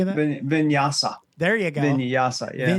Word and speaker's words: vinyasa: Vinyasa.